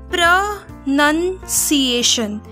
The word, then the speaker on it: pronunciation: Basically इस word को बोला जाता है प्रनंसिएशन. इट्स पी आर ओ प्र एन यू and none C आई ए टी आई ओ एन सीएशन, प्रनंसिएशन.